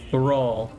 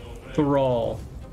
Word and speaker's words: thrall: This is a word that will be difficult to pronounce for Chinese speakers who are not used to putting two consonant sounds, th and r, together. But if you listen more, thrall, use your tongue, thrall, thrall, you will